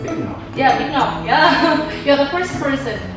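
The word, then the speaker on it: Bích Ngọc: Yeah, Big Ngọc.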